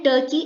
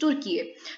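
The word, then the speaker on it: Türkiye: टर्की जो pronunciation है ये एंग्लोसाइज्ड प्रोनाउंसिएशन है जो बेसिकली ब्रिटिशर्स ने टर्की को दी। पर टर्की के जो प्रेसिडेंट है रेसेप तैयब एर्डोगन, उनका ये कहना है कि देखिए, डू not call us बाय टर्की because there is a Turkish pronunciation to it which is तुर्की।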